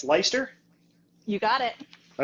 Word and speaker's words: Leister: So basically, we have co-branded show today, Corrie, and it's Leister. You got it. All right, make sure I pronounce it right.